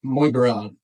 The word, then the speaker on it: Muay: Burma invading their country, and you've got these guys now, like Muay, I think is how you pronounce it. Yeah, that's correct.